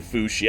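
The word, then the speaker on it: Fuxi: The last boss, Nua and Fushi. I looked it up. It apparently is pronounced Fushi.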